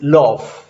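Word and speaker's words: l'œuf: उसका प्रोनाउंसिएशन ये LOEUF बन जाएगा, जिसका pronunciation something like this is लव, जिसका प्रोनाउंसिएशन लव है.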